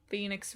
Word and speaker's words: Fenyx: up how to say Fenyx Rising. It only makes sense that it's pronounced like Phoenix, right?